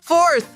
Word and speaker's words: fourth: Atenção pra revisão da pronúncia da palavra! Fourth! A gente tem dois sons aqui. Quem sabe qual é o primeiro? Acertaram! O som inicial é for, sendo necessário enrolar a língua na letra R.